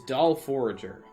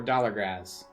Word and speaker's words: Dollargraz: No, it's a dollar, using the 4 as an A as leet, and then Graz, Grazz. And as someone who has